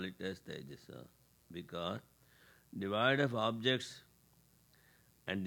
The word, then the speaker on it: Taijasa: no fire, but how you say it is Taijasa.